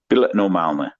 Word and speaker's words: bilet normalny: Weather beaten face, and I jumped on and I put the money down and I said, "Bilet normalny." So the correct pronunciation would be like "bilet normalny," and I said, "Bilet normalny."